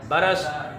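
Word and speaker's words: برس: बे पर भी ज़बर, रे पर भी ज़बर। शाबाश। रे की जज़्म के साथ इसको हमने नहीं पढ़ना, रे की ज़बर के साथ पढ़ना है, ठीक है। बरस, बे की ज़बर, रे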